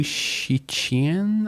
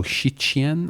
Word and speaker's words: Cixin: The last name is spelled Cixin. And I actually spent a good 5 to 10 minutes on Wikipedia trying to figure out how to actually pronounce this, because Mandarin has a bunch of sounds that are unnatural to Western sort of speech. So Shiqian, I believe, is the pronunciation.